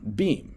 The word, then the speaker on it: Beam: Now, Beam, it's spelled be a M.